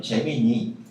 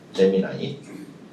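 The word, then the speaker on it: Gemini: 우리 옛날 식으로 표현하면 재미니 쌍둥이별이란는 뜻이에요. 쌍동이고요. 그래서 나와 똑같은 분신을 또 하나 만들어 가지고 AI 쌍동이를 만들어서 걔한테 일을 시킨다는 의미로 붙은 이름이에요. 재미나이. 미국 식발음입니다.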